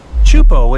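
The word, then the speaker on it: Teahupo'o: Chupo in Tahiti also has some of the heaviest waves in the world, breaking over a shallow reef and creating intense barrel rides.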